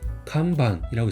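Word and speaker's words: 看板: 그래서 일본어는 간반이라고 있습니다. 그래서 큐징, 보슈, 간반이라고 있습니다.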